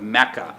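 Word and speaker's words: Makkah: of the city although the official translation used by the saudi government is mecca spelled as m-a-k-k-a-h which is closer to the arabic pronunciation the full official name is mecca al-makarama which means mecca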